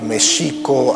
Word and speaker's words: México: Después de la caída de Mexico Tenochtitlan, les comentaba que Mexico, así es como se pronunciaba en el México prehispánico, la X no se pronunciaba ni J ni X, sino Sh.